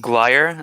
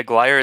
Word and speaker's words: Glyer: i'm sorry about that gliar yeah i get yeah gliar is fine i get geiler a lot but guyer is the the right one it is okay cool